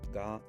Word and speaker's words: じ: However because we don't have the c sound we have the she sound she with tenten is pronounced g.